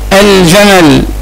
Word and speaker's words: الجمل: كلمة الجمل، الجمل، نطقت اللام؟ نعم نطقت اللام، اذا ايضا هي لام قمرية.